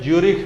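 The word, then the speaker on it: Zürich: और इसका हेडक्वार्टर है ज्यूरिख में, ज्यूरिख, ZU पर उमलाउट RICH, ज्यूरिख। ये इसको उमलाउट बोलते हैं, क्या बोलते हैं? उमलाउट, डबल डॉट दिया था उसको लंबा उच्चारण करना पड़ता है, ज्यूरिख, ज्यूरिख।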